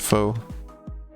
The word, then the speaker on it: faux: Chroma has great news regarding the word faux. It's gonna be that it's French, isn't it? I mean, AUX being pronounced like O, I think, is a very French way to pronounce it.